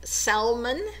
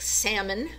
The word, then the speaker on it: Salmon: After the Battle of Jericho, she is taken safely, and she marries somebody named Salmon. It looks like salmon, but it's pronounced Salmon.